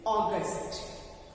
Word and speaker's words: August: August, pronunciation is August.